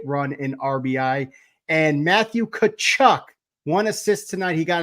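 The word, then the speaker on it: Tkachuk: in RBI and Matthew kachuck one assist tonight he got an assist at game six in that playoff series Matthew cchuck the t is silent if you stay it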